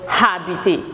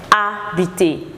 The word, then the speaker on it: habiter: Okay, habiter, which the H is silent. So it's not habiter, but it's habiter.